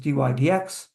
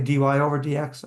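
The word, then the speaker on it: dy/dx: when we see this we pronounce it just dydx we don't say dy over DX I don't know why we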